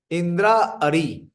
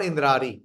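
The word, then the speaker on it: Indrāri: get this Lang clear Indra Ari it is not indari it is you know pronounce Indra but it is Indra Ari what is the word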